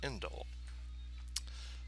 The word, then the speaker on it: endl: So this is what's called the ENDL, often pronounced indel.